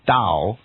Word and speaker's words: Tao: Dow or towel so in the end it's pronounced Dow and actually written towel with a T so